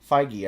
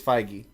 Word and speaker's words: Feige: Kevin Feige went on to say, we felt incredibly relieved when Michael Douglas agreed to step into the part with the charm. Feige, I think.